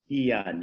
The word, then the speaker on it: Hyun: Drew, who I asked to pronounce his name, and now I wasn't paying attention, is Hyun? Hyun, yeah.